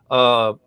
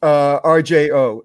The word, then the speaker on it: RJO: You don't necessarily have to say that you're with RGO. Am I going to pronounce it right? It's actually my own company, but it's RJO. RJO. Okay, good. So it's RJO.